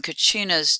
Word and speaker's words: Kachina: change the spelling and along with it the pronunciation from Kachinas to Casinum, which is closer to Native American language and ideas.